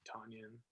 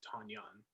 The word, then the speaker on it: Tonyan: I know that Robert Tonyan, or I actually think it's Tanyan, is actually how you pronounce it.